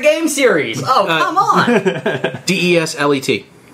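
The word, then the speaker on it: Désilets: Oh, French in your silent S. And I wasn't going to make you do the accent either, but there's an accent on the E.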